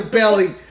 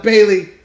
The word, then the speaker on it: Bayley: He doesn't even say her name right. He calls her Belly instead of Bayley.